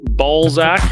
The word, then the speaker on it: Balzac: This one was in Balzac, Alberta. Make sure you really pronounce the Z in that.